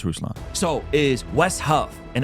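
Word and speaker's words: Ruslan: situation even though Alex can't pronounce my name correctly like Russ KD it's rusan Alex it's rousan so is West Huff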